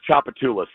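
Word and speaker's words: Tchoupitoulas: Chapatulas.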